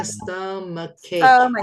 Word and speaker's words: stomachache: Ini bacanya stomachache.